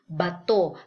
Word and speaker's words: bato: You say bao because um the pronunciation in Filipino for the word a is like in the sound of father. So you say bato because when you say